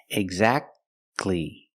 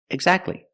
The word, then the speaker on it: exactly: don't say exactly exactly don't pronounce a T exactly you go from the C Sound to the l sound exactly exactly or the word Christmas